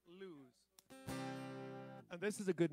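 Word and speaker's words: Lues: Lewis, L-U-E-S. How would you pronounce that? Lewis.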